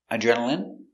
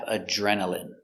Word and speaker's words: adrenaline: Next we have adrenaline. Adrenaline. Remember, ine here is pronounced in. Adrenaline.